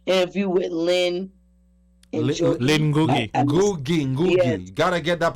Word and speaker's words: Ngugi: Ngugi. Yes. Gotta get that pronunciation.